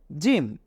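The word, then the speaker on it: ج: আমাদের জন্য আরেকটি কোন অক্ষর রয়েছে সেটা হলো জিম নিশ্চয়ই জিমেরটাও আমাদের মনে আছে হা এর মতোই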